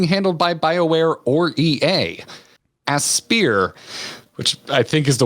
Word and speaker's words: Aspyr: Aspyr, which I think is the way to pronounce it, recently having remastered Star Wars Republic